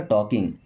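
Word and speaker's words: talking: इट was nice टॉकिंग टू यू, it means होता है यह, वॉज मीन्स था, नाइस मीन्स अच्छा, टॉकिंग, टॉकिंग का मतलब होता है बात करना, यहाँ पे एल साइलेंट रहेगा ना, टॉकिंग।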